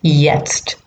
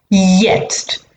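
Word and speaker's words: jetzt: anyway ich free sticker yest i'm having my breakfast now yest i'm having my breakfast and now yes yest now remember that all j's are pronounced like y's so that just means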